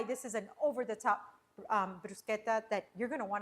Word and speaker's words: bruschetta: A lot of people say bruschetta. No guys, it's pronounced brusqueta.